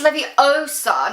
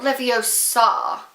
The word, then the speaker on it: Leviosa: eye out and besides you're saying it wrong it's Leviosa not Leviosa and then wrong cuz